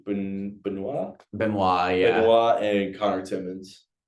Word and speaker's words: Benoit: Benoit, yeah.